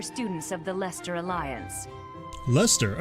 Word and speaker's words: Leicester: Lester, okay, that's much easier to pronounce than the way I was doing it.